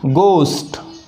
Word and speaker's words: ghee: अब ये जो यहाँ यस लिखे हुआ है, यह है दीर्घ उच्चार के लिए गोस्ट, तो ये सही है। दूसरा GHEE, घी न होते गी।